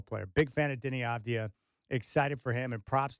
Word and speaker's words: Avdija: Man, I love Deni Avdija. And so much fun to watch. And fans, they may not know how to pronounce his last name. They call him Advia or whatever they say.